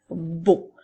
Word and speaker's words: beau: Alors, c'est pour ça qu'on fait beau. Alors, rappelle-toi, le son E-A-U fait le son O.